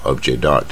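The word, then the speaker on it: objet d'art: 艺术品啊，object art 啊，这个 t 就不发音了啊，object art 就可以了。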